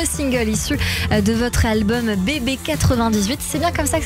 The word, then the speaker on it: Bébé 98: J, votre nouveau single issu de votre album Bébé 98. C'est bien comme ça que ça se prononce ?